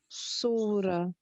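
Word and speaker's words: سورة: You missed the ha. I know we're not getting into this right now, but because you pronounced the letters correctly, so you'd pronounce this as a ha, surah, and surah, just the ha at the end, yeah?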